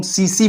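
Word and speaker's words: tsetse: English में आपको टीएसई, लेकिन यहाँ पे टी साइलेंट होता है, जिसको हम सीसी बोलते हैं।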